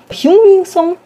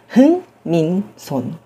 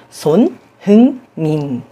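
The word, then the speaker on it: Son Heung-min: Olha, eu já ouvi Hauminson, Hilminson, Hyunminson. Daqui a pouco vão falar Hamilson ou Edmilson. De fato, a pronúncia não é lá muito intuitiva a partir da transcrição em letras romanas.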